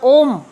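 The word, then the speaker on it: ॐ: ओम का उच्चारण करते रहना। ओम शब्द 3 ध्वनियों से मिलकर बनता है, आ, उ, म।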